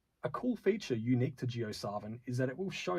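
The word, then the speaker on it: JioSaavn: artists geosaren artist one geosarvan previously known as sarvin and pronounced geosarvan was founded in 2007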